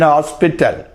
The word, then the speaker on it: hospital: He went to an hospital. He went to an hospital. There H is sounded.